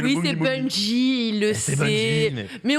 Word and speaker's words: Bungie: pense que je vais faire plus d'erreurs de prononciation des studios parce que dans le chat ils sont tous Ils ont dit boogie, boogie, boogie. bong, bong, bong, bong. C'est le Oui, boogie, c'est boogie. Bungie, il le C'est sait.